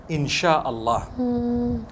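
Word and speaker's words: insya Allah: s-y-a they pronounce it they pronounce the s y the way we pronounce s h so they can write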